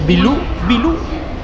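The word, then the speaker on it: 秘鲁: O sea, Perú en chino se pronuncia algo así como Bilú.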